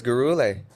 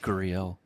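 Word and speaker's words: Gurule: Well, look at Luis Garule. Jeez, man. 5-0, 5 finishes. Guriel. That's how you say it.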